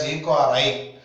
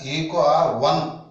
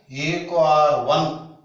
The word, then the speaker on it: EcoRI: Sorry, don't pronounce it as EcoRI. You have to pronounce it as EcoR1. 1 means first order of identification. So you have to pronounce it as EcoR1. Don't say EcoRI.